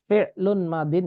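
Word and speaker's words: فعل ماض: Di sini bacanya fi'lun madin ya, fi'lun madin. Bacanya ini hanya sekedar ini aja yang mendapatkan bacaan fi'lun madin, yang ini fi'lu amrin, yang ini fi'lun mudhari'un. Ya, bacanya fi'lun madin, yang kedua fi'lu amrin, yang ketiga fi'lun mudhari'un.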